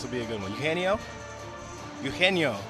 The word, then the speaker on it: Eugenio: Eugenio. The G is silent.